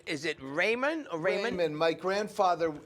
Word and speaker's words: Raymond: Yeah, so Raymond. So Raymond, I go by Raymond. Yeah. That's cool, it's easier. I first thought it was Raymonde. Different people pronounce it different ways.